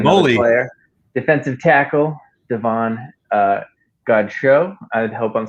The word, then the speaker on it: Godchaux: Godchaux. I like it. Maybe he's from the Bayou and it's good show. Godchaux. You got to put the emphasis on the right syllable.